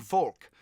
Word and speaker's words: Volk: of the German common folk. Volk, and it's pronounced sort of, it looks like Volk as in Volkswagen, the people's car, but it's actually pronounced more like folk.